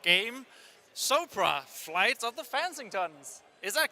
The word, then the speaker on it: Fansingtons: Soapra, Flights of the Fansingtons. Is that correctly pronounced? The whole Fansington, but Flights of Fan. as in flights of fancy, but with a ton.